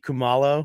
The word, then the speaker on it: Kumalo: Bakithi Kumalo. I don't know if I'm saying it right. Yeah, that's right. Kumalo.